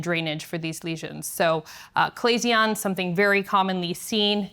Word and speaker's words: chalazion: So, chalazion, something very commonly seen. It is Greek, so it is pronounced kuh-lay-zee-un, not shuh-lay-zee-un, though many people do call it that.